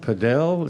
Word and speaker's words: padel: And is it padel? Padel. Some people call it paddle. It's spelled P-A-D-E-L, but some people call it paddle, but it's really supposed to be called padel.